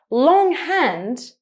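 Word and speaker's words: longhand: So in this case, the sound is not GH. The two letters are separate because you first have the word long and then you have the word hand. So you can actually hear both sounds in a separate way.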